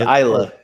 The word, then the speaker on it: Isla: what' you call huh Isa it's Isa Isa wait oh it's because this this has it misspelled on the website that's why okay well no that islaa is yeah it's a silent s oh is it okay